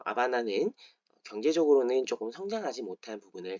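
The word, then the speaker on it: Habana: 아바나 이미지 혹시 떠올리실요 아바나는 스페인어로는라 아바나라고 부릅니다 지금 스펠링을 보고 계실 텐데요라 아바나 아고 할 때 h n 무음입니다 그래서 하바나라인 어 쿠바의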